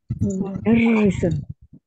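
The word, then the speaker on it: مُدَرِّسٌ: Mudarrisun. Pakai tasdid Pak. Apanya pakai tasdid? Roknya. Iya, roknya pakai tasdid.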